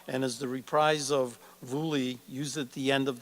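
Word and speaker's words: Vuelie: the language of the vikings the first song pronounced vuli is the theme of the movie that plays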